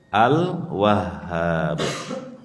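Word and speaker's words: Al-Wahhab: kita bahas Al wahhab Al wahhab ini pengucapannya Memang agak sulit karena huruf H di tasydid kemudian dikasih Alif jadi Sudah tasdid ditekan kemudian dipanjangkan sedikit tapi kita berusaha untuk mengucapkannya dengan benar karena nama Allah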